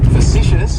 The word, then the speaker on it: facetious: Facetious has 3 syllables, and the stress is on that second syllable. It's like you're just saying the letter C. Facetious. And that first syllable has that schwa, that sound.